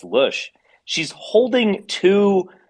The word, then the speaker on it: Loesch: Isn't it Dana Loesch? No, It's like John incorrect. Boehner. John All right, Boehner. Incorrect. It's All right, Lush. all right. So she's Where's Kaiser? Pretty sure it's she's German, by the way. You should holding. know that. Yeah, it's a German name. It's Lush.